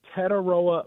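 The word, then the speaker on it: Tetairoa: He says, yeah, you'll never forget it because it rhymes with Figueroa. So Tetaroa.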